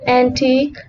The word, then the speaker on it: antique: Rule 3. Letter U is silent in words of French derivation with suffix QUE, as in antique, unique, and mosque.